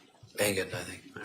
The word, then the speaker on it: Engen: Is it Engen, like an engine, or is it Engen? I thought I heard her say Engen. It's the latter. Engen, I think.